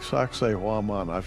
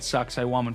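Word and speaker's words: Sacsayhuamán: But a place like Sacsayhuaman, if I'm pronouncing Sacsayhuaman.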